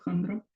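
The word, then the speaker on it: хандра: por el estilo Handra, se pronuncia esa palabra Handra, y esa palabra tiene origen etimológico de la palabra hipocondria, hipocondria.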